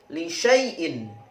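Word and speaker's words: لِشَايْءٍ: Berikutnya adalah lisyaaiin. Lisyaiin. Hati-hati, 'sya' dibaca pendek.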